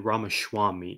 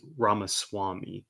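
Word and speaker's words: Ramaswamy: here names are important I called this man ramaswami it's definitely pronounced ramas Swami important note there I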